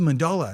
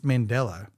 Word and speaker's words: Mandela: time so Mandela effect I'm like yeah this is a mandala and it's Mandela right is it a bunch